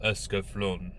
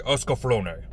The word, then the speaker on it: Escaflowne: from the visions of eska flown esophany they pronounce it two different ways in the anime so we'll just say oscar flonay once again we're going